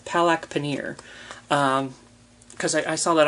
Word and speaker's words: palak paneer: the same time um so it is said how it looks it's palak paneer um but yeah there's